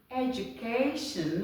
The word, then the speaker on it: education: the next one is education not education education education okay open your slash a okay your letter see here will change to k k this one we change